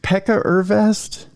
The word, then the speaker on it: Pekka Ervast: this is why I'm stalling uh is it Pekka ervast yeah that's good well I'm all recognizable yes you pronounced it pretty well uh well uh thank